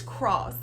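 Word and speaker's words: Kross: lauren london's son and it is cross and it's spelled k-r-o-s-s though like a cross but you spell it different i thought that was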